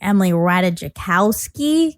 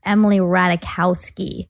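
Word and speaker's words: Emily Ratajkowski: cuz I was saying Emily Ratajicowski. That's how it's spelled, but it's actually pronounced Emily Ratikowski. The J is silent.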